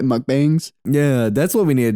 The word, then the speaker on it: mukbang: a mukbang to it no it's pronounced a mukbang but I do like amusement